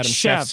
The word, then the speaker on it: Cheshky: When they redo prospect rankings this year, Josh Adam Cheshky will be a top 100 Adam Cheshky at like Adam Schefter? Like Cheshky, like Chevy. Chev.